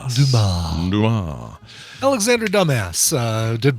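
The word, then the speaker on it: Dumas: it's Damas yeah Alexander Damas I had no idea that was that guy so should pronounce that last s Alexander Dumar Dum Alexander dumbass uh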